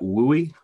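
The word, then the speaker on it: WUI: seen this term before w-u-i that we pronounce that we um and we're referring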